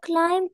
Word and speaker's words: climb: ألي ألي is going to climb a mountain. excellent توقع. again please. Okay. Ali is going to climb a mountain. B is silent. Silent B.